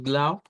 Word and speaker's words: Blau: Prácticamente es otra palabra en Deutsch, en la cual casi que la leemos como se escribe, con la diferencia de que la última U debe ser una U corta en vez de una U larga.